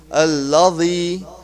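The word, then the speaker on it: الذي: So we will be pronouncing it like Allazi, Allazi, Allazi. So if we pronounce that, like if you use the edge of the tongue and inner edge of the top teeth, that's the true pronunciation for these three letters.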